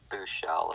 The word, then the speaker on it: Buechele: Buechele is how I do it. It's not Shelley.